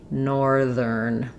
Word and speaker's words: northern: Also, be aware that even though we have north, this th is voiceless, no vibration here. In northern, it changes to the voiced ther sound. My vocal folds are vibrating in northern.